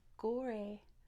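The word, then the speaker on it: Gorée: history that's okay okay Gore Island Gore is how we'd say it in English in French they speak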